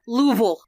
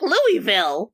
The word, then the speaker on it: Louisville: near the Indiana border louville l l l l you're just saying vowels yes yes you always know someone's a stranger cuz they'll be like Louisville Louisville God forbid you get